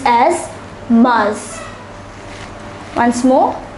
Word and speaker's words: mars: written as february once more february much is pronounced as mars once more mars april is pronounced as avril avril so let